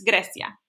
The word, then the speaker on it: Grecia: Right now, we are just going to talk about Grecia, Mykonos Island, Mykonos Island, Greece, okay? Now, this is Spanish class, and the way you say Greece in Spanish is not Greece, it's Grecia.